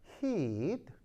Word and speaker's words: heat: 이게 발음을 잘해야 되는데 이 아이가 이게 이 장모음이에요. 짧게 발음하면 안 돼. hit 이건 뭐예요? hit 때리는 거고요. 얘는 열이기 때문에 heat.